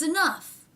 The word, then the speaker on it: enough: this must be enough no that's not what it is it's enough so the ah vowel changes to the a vowel but somehow that f sound stays in there enough enough and i